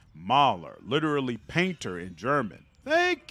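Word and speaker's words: Maler: importance to the Empire hmm FYI mailer is pronounced Mahler not mailer Mahler literally painter in German thank you and once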